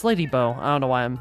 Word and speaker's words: Lady Bow: Um but welcome to the slap variety era variety hour starring Bao or Lady Bow. It's Lady Bow.